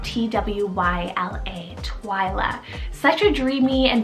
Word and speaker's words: Twyla: one's french rooted meaning sky then i have twila spelt t w y l a twyla such a dreamy and very whimsical name